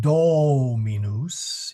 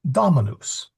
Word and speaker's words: dominus: The do or sorry the do is short as in dot. So it's not dominous. It's dominus.